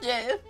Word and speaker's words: Gef: My name is Jeff. Yes, my name is Jeff. My name is Jeff. But it's spelled different, G-E-F, because the small, secluded